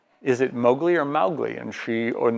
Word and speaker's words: Mowgli: granddaughter in England and asked how is it pronounced is it Mowgli or Mowgli and she on this you know